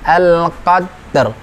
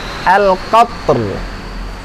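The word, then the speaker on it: القدر: pertama selain itu adalah ketika mengucapkan al-qadr. Nah, kadang ra-nya kurang jelas, kurang terdengar. Al-qad. Ada ra. Dal sukun, ra sukun ya. Al-qadr. Al-qadr. Nah, seperti itu. Jadi bukan pula anzalnahu fi lailatil Qadir. Nah, qadir. Nah, itu juga kurang tepat.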